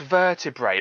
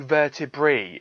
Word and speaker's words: vertebrae: antenny larvae um vertebrae it's pronounced e it's not a it really annoys me